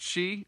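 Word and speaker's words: Chie: chi a it's i i i it's it's pronounced she right yeah i just it's spelled like chi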